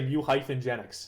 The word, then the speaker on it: Mewgenics: But, uh, if you're talking about this incarnation of the game, you have to say Muyph Genennics. That's exactly how to say it. Muyph Genennics exclamation point. So, anyways, my relationship with Mugenics is that, um, at the time of reveal, what time was this?